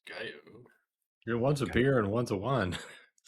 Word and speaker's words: Gallo: So, yeah, Gallo and Gallo, but not enough people know how to say Gallo instead of Gallo. I mean, obviously it's pronounced Gallo.